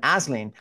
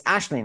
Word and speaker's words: Aisling: thought would have been Asen and she says it's ashleen and and and why the difference yeah so it's Irish uh you know like